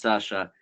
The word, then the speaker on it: Sasha: Yeah, my name is written, but it's pronounced Sasha because Sasha is nickname for, where I come from, and they speak like this in this very large and aggressive country.